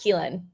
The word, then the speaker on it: Keelan: so nice um uh my name is pronounced keelan so like key and then lin uh my name like